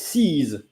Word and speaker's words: sise: But if it's in feminine, it's sees, SISE, sees, and then you pronounce the S like Z, sees.